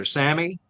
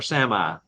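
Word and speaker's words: Sámi: of their blank okay the indigenous people is pronounced two different ways depends on what part of the world you're in it's either Samy or Sami that's the people that's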